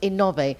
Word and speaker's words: Innove: In English, that would be Inove, but in Spanish, it's pronounced Innove, and it's renewable energy, right, David?